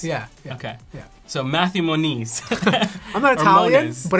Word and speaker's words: Moniz: I'm called it okay how do you say oh man I say Mon is but it's not it's actually more knees but no one says it like that okay yep that's like